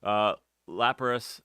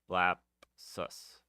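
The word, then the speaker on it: Lapsus$: Lapras, I keep putting an R in there. There's no R. Lapus, Lap. No, that's wrong too. Anyways, I can't pronounce their name. Lapsus.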